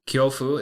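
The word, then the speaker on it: 恐怖: Japanese word for fear and that is kofu kyofu is spelled k yo U Fu F and that's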